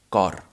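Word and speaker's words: cor: also have for example the word kor kor and it means heart with a closed sound we have for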